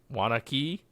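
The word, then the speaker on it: Waunakee: uh from wildmind Artisan alses from W Waki wanaki Wisconsin W sure is that the one that's spelled w n u k a w a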